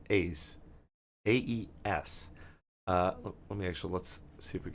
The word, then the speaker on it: aes: I believe it's pronounced AES. AES. Let's see if we can pull that up. How to pronounce it in Latin. AES. Latin. Is. It's is.